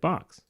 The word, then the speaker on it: Bochs: the frequently asked questions how do you pronounce it like box um why can't I